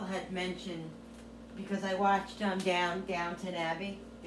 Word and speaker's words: Downton Abbey: Somebody, a couple people had mentioned, because I watched Downton Abbey, I always thought it was downtown, but it's Downton Abbey is how they pronounce it.